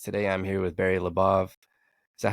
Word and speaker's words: LaBov: LaBov, that's exactly right. Now, I do have relatives throughout the world, and they either call it LaBov or LaBov. I'm LaBov, so it rhymes with above.